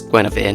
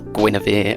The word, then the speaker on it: Guinevere: And yes, it's Guinevere, not Guinevere, as I've been saying, because of course that's, how it's spelt.